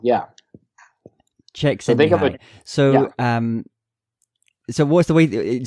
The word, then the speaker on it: Csikszentmihalyi: Yeah, just think of a chick, baby chicken, Sent, S-E-N-T, me, and then hi, H-I.